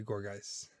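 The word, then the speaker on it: Gourgeist: This one I usually say Gorgeist, like Poltergeist. Gorgeist, yeah, it's got to be Gorgeist.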